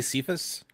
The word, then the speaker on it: Cephas: I've been calling it Cephas. I've heard it both ways. It's I say Cephas. That's how I pronounce it.